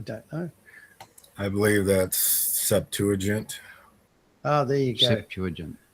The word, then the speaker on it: Septuagint: Anybody help us with the pronunciation? Yeah, I don't know. I believe that's Septuagint.